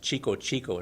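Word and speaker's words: Tico-Tico: a guy playing and Tiko Tiko which they pronounced Chico Chico in Brazil where it's from but I like that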